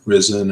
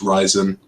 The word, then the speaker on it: Ryzen: at it you would expect it to be pronounced like risen or something like that but it's pronounced rise in any way for the chip that's kind of